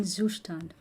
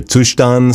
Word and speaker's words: Zustand: You know, today I figured out the pronunciation of Zustand, and it is actually a German word apparently. Here. So you want to use async code in your Zustand store?